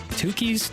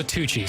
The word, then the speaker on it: Tucci's: Tukey's Tushy? Tukey's Tushy. It's supposed to be Tukus Tushy? He's new. That's Tukey's Tushy. Tucci's? Let's go Tucci's. Let's go Stanley Tucci. It's spelled like Stanley.